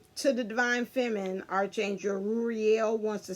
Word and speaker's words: Ruhiel: But yeah, I said Ruhiel, I was right, I said it right.